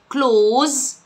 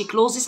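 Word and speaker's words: clothes: كلوز، التي اتش هنا بتنتج ذا ذا، وما تنسوش ان احنا حتى لو كلمه كلوزس مكتوبه بالشكل ده ما بتتنطقش كلوزس، عشان ناس كتير بتقولها ده غلط، اسمها كلوز مفرد وجمع كلوز، لان اصلا ملابس كلمه ملابس نفسها ملهاش مفرد فبتتنطق كلوز. كلمه فستان دريس، الدبل اس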